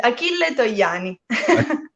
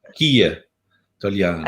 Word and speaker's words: Achille Togliani: Can you please pronounce his name properly? Because I would say Achille Togliani. Yeah, that's very good. Achille Togliani. Achille Togliani.